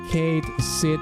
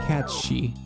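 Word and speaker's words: Cait Sith: I don't like that his name is pronounced as it's spelled since the thing he's named after is pronounced catshi.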